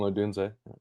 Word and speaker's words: Odunze: Rome Dunze, is that how you say his name? And Yeah, Rome Odunze.